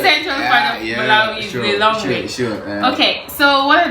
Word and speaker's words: Lilongwe: The capital is called Lilongwe. I don't know if you can pronounce it. Lilongwe.